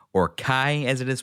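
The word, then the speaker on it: chi: keyblade spelled x-blade X being the Greek letter key or Kai as it is pronounced that is how it is spelled with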